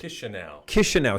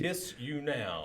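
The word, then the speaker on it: Chișinău: But if I was living in Chisinau, or how do you say it? Chisinau. See, I'm only... Kiss you now.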